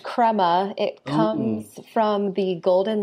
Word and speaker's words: Crema: know that you're working at an agency called Crea is that how you pronounce it it's pronounced Crema it comes from the golden layer that rises